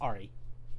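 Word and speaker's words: Ahri: yeah that's a thing is that how you pronounce the name yes Ari that is funny I would like to get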